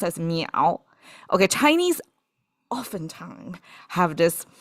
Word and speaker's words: 淼: If you don't know, it's pronounced as miǎo.